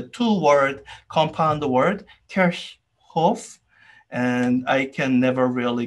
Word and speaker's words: Kirchhoff: in multiple different ways i might say kirchoff the old wrong pronunciation i used to use i think i have heard people say kirkhof i'm pretty sure that's wrong but anyways i think